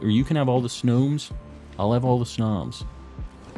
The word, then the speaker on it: Snom: can have all the snowmes I'll have all the snobs oh wait it's Nam you have the book it's nam s-n-a-h-m in that case it's in an official book gotta listen to it